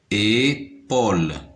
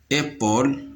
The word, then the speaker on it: épaule: P avec AU نقراها Paul. Épaule.